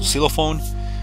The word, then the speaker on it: xylophone: gonna find the boots xylophone i guess it's pronounced silophone a tomato from the